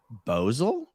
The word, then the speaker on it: Basel: case Ventura P.S basil pronounced bozal locally oh my god I've never heard anyone say that it Basel a Basel it's got to be Basel not bosel right I've always said basil